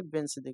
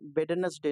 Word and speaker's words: Wednesday: ये जो वेंसडे, इसे इसका प्रोनाउंसिएशन किस प्रकार से करते हैं, इसे वेंसडे कहते हैं, वेडनेसडे नहीं कहते, ठीक है, ध्यान दीजिएगा।